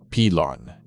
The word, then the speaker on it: piloncillo: Pronounced pee-lon-kee-yo, piloncillo is technically an unrefined whole cane sugar, also known as papelón or panela.